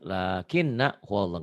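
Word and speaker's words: لَٰكِنَّا هُوَ اللَّهُ: Di sini mestinya dibacanya lakinna huwallah, enggak dibaca panjang. Kenapa? Ya di sini pendek karena asalnya ini adalah lakin ana huwallah. Tuh ya diingetin nih. Di surat Al-Kahfi lakinna huwallah. Nanya enggak panjang.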